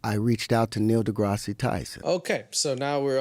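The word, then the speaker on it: deGrasse: to Neil Degrassi Tyson I don't know if he's just saying his name wrong on purpose I've never heard someone pronounce it like that I guess he's just using the Spanish pronunciation which is not correct because Neil degrass Tyson isn't Spanish so I saw him at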